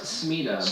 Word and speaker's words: Smita: So he Noah said it's pronounced Smita.